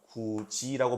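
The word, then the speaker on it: 굳이: 뭐 굿이가 우리가 실제 발음할 때는 구지라고 발음하죠.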